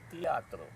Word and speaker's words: Tiatr: Let us spell it the way we pronounce it. And as a result, T-I-A-T-R came into existence.